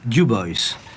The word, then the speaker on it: Dubois: Ici, c'est Dubois, prononcé Dubois.